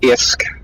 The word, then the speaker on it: ISK: was real big into Eve online yeah often pronounced isk yeah exactly I just call it they don't